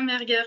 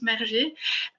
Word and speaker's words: Merger: Alors, c'est Alain Merguer que vous connaissez maintenant qui va animer ce débat, donc, ou Merger plutôt, hein. On prononce Merger, donc membre de France